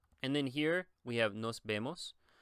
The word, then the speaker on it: nos vemos: The E in Spanish is actually pronounced more like the, I guess you would say the E in bed. So it's nos vemos, vemos.